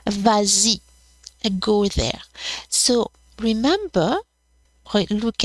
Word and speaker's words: vas-y: Well, here it's only because of the liaison, because it's easier to say vas-y than va-y.